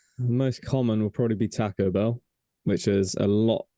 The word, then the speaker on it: taco: not my in the in the Spanish language a is pronounced with the a sound which is what makes it pronounced Taco hurry up guys so